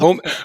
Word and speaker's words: Omen: This is the brand new chapter approved Arcs of Oman going up. Oman, sorry, going up. Omen. Omen. You pronounced it wrong twice.